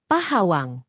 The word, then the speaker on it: Pahawang: Bunyi K pada akhir kata Pok perlahan-lahan melunak dan melebur dengan bunyi H pada awal kata Hawang. Dari Pok Hawang, pengucapannya bergeser menjadi Pohawang atau Pahawang.